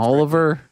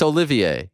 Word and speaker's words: Olivier: who cares if he's pronouncing the name Oliver I mean I love Oliver it's my son's name it's Olivier they should make fun